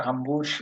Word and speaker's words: Hamburg: মিশেল ওকেনজি হাম্বুইনজি হাম্বুশ দেখছেন হাম্বুর্গের উচ্চারণ তারা হাম্বুশ বলছেন আপনি কি হাম্বুজ চিনেন